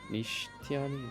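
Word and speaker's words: Nishitani: Uh, Anishani, Nishtani, Nishani, that's how you say his name.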